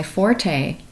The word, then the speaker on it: forte: When we say, oh, I'm really good at that, that's my forte, did you know the correct pronunciation is actually fort?